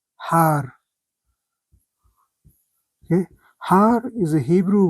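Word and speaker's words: הַר: So it's read He, Patah, Resh, Har.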